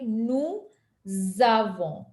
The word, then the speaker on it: avons: So it is going to be something like nous avons. Nous avons. oh. Okay, so that's a liaison, and that's how the pronunciation makes a difference. Because if you just read it as nous avons, it won't sound like French. But if we say nous avons, it'll sound more like close to their pronunciation.